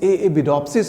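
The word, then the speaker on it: Arabidopsis: आर को pronounce नहीं करते हैं, एएबिडोप्सिस प्लांट पे हम लोग काम किए।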